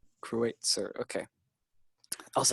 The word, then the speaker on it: Kreutzer: Am I pronouncing that right? Kreutzer. Kreutzer.